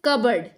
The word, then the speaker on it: cupboard: No, this is कबर्ड। P is silent. This should be cupboard, cupboard, not cupboard, cupboard.